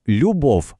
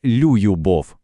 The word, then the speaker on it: любов: Наприклад, у слові язик ми чітко чуємо язик, але варто їм опинитися після приголосної, як вони перетворюються на один звук і натомість пом'якшують цей приголосний. Як от у слові любов чуємо любов, а не лююбов.